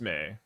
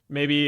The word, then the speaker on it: Mai: I think that usually that's how this name is pronounced, and so, but in the show it's pronounced May. Maybe if M. Night Shyamalan had the privilege of making a sequel to his hit film, The Last Airbender, it may have had a different pronunciation of her name. But in the show, it is distinctly May.